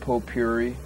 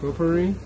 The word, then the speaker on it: potpourri: and no smoking pop Pope Yuri how do you pronounce that potpourri potpourri yeah I'd like to smoke